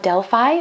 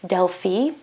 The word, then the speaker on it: Delphi: There are some famous oracles like the Oracle of Delphi, or as it's actually pronounced, Delphi.